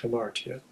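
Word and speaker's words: ἁμαρτία: don't speak Greek, the Greek word is basically hamartia. That's how it's pronounced, hamartia.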